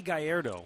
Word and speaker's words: Gallardo: In that Milwaukee Pirates game, this sensation for Milwaukee, do you pronounce it Gallardo or Gallardo? Giovanni Gallardo.